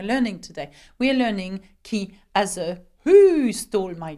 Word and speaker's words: qui: how to ask questions with the French word key which means who now we know that key is uh who okay now have a look